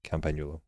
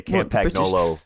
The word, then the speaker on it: Campagnolo: Yeah, you don't say the G in the actual word, so or you say it differently.